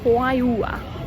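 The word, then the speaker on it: Juayúa: We are in Hayua, it is pronounced, and the church here is huge.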